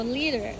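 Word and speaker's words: Líder: this is their brand liter am I saying it right leer leer leer oh yeah cuz the I in Spanish sounds like an e so leader leader leader so leader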